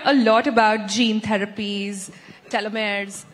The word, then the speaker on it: telomeres: We hear a lot about gene therapies, telomeres, tel, that's how you say it.